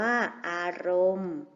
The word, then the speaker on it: อารมณ์: การันต์ อ่าน ว่า กุมภาพันธ์ อารมณ์ มี นอ เณร การันต์ อ่าน ว่า อารมณ์ ดาว ฤกษ์ มี ศ.